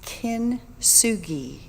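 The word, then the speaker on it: kintsugi: several people have said how do you say that word you sure it's kin sugi it's the 15th century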